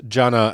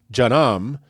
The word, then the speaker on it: Jannah: So also take care not to mispronounce Jannah as Jannam, which, as we will explore in a future segment, is the Islamic word for hell.